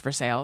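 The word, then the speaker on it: Versailles: all the Vander pump people went to in ver sales Kentucky but it's spelled vers but it's pronounced for sales oh is that really the name of oh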